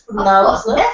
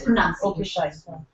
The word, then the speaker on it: pronunciation: word excuse me ma' when it's not the word pronunciation when when it is just pronounce the word correctly then then that's pronounced that's pronounced proun when it comes to this versation it's pronunciation it's competition and competitive